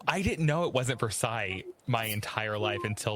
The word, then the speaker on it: Versailles: My favorite pronunciation is Versailles, Kentucky. Versailles. Oh, it's Versailles.